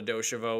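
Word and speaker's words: deux chevaux: think it was like jerry seinfeld call it a doshivo which i think that's that's actually how you say it whatever i sound pretentious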